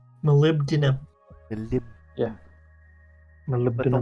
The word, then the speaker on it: molybdenum: For some reason, we can't just put B and D together. There's gotta be something in between. It's a very hard sound to make. Molybdenum. Molybdenum.